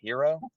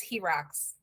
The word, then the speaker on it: Heroux: yeah that's okay it's it's pronounced 15 million different ways my favorite one is her rocks people who like yeah that's okay Z Rock it's like but but it's here eyes right I'm like okay fine